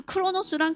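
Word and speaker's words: Kronos: 있잖아요 물 흘러가지다는 시간 그 크로노스는 같은 발음이에요 원어로는 발 이게 스펠링은 다른데 같은 발음이 뭐해 뭐라고요 크로노스 이게 그리스 신이에요 그래서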